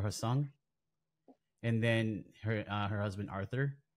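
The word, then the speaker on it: Hae Sung: childhood sweetheart boyfriend, and I think it's pronounced Hai Sung or Hasung, and then her husband Arthur.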